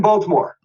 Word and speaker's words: Baltimore: where today I'm in Baltimore Baltimore yeah you pronounced the T I thought you weren't